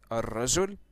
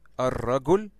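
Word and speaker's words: الرجل: like that, which you pronounced as ar-rajul, okay, or ar-ragul, okay, this word means the man.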